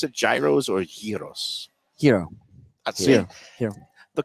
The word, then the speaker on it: gyro: Do you Oh, pronounce it gyros or gyros? Hero.